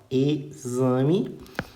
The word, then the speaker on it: exame: de é experiência experiência ele pode ter som de z como é o caso de exame ó exame e pode ter som